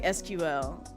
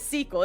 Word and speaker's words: SQL: I think I did every now and then, but you see how I just said sequel cuz that's how how we pronounce it. Yeah, exactly. Lime is sequel. It's pronounced sequel.